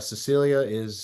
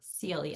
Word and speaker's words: Celia: And as you just heard, Cecilia we're excited to have you here. Celia. Celia, as I Good pronounce thing it you wrong.